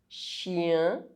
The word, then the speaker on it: chien: CH is pronounced sh. Bouche, chien.